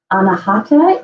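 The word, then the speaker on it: अनाहत: Anahata is how you pronounce it in Sanskrit for your chakra, and it is the center chakra between the seven chakras altogether.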